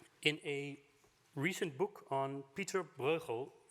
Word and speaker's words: Pieter Bruegel: Ladies and gentlemen, in a recent book on Pieter Bruegel, as we pronounce the artist in Holland, Pieter Bruegel's painting of